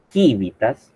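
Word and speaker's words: civitas: Una pronunciación restituta, que pronunciación que usamos los filólogos, se llama quívitas porque o c se pronunciaba como k y u v se pronunciaba como u.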